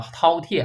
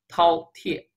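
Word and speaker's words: 饕餮: 以前同学给我读成叫做什么叫虎贲啊，不是这么翻的啊，是叫饕餮啊，别念成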